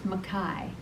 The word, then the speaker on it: McKay: was a fabulous program the name is spelled McKay but he says just think of the sky so it's Makai so that helped me